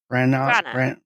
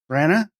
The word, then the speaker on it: Branagh: How do you pronounce his name? Branagh. Branagh.